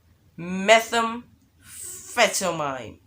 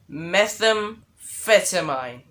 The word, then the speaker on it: methamphetamine: right here all right let me say it metham fettermine wait a second did i say it right let me try it again all right methamphetamine all right that's better i think like i